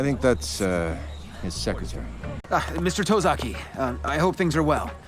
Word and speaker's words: Tosaki: The lead of this duo is named Tosaki, not to be mispronounced as Tosaki.